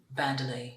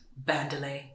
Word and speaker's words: Bandele: people to gradually get used to the name bandelay Muse get used to pronouncing it bandelay Muse so it makes sense to have the